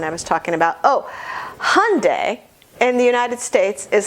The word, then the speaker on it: Hyundai: States is Hyundai and I think you should say Hyundai cuz most people do but just so you know in Europe they say Hyandai or something they make it more syllables they make it three syllables and we make it two I don't know what